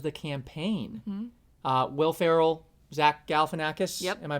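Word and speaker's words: Zach Galifianakis: Uh, Will Ferrell, Zack Galanakis. Am I pronouncing that correctly?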